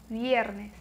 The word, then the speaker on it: viernes: Mesma coisa, se escreve viernes, mas se lê viernes. Viernes.